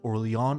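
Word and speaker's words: Orléans: as the nation of Orleans I know it's pronounced Orly on I'm not going to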